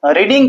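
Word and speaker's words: read: कर देंगे बंग और रीडिंग का थ क्या हो जाएगा रेड स्पेलिंग तो रीड वाला ही रहेगा लेकिन पढ़ेंगे रेड उसके बाद में क्या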